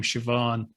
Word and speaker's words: Siobhan: so yeah yeah well BH in Irish is pronounced V so when you see